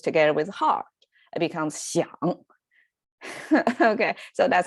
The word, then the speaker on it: 想: So it was 香 by itself, but when it used together with heart, it becomes 想.